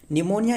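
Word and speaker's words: pneumonia: infection disease that affect निमोनिया जो कि P silent वड याद रखना यह एक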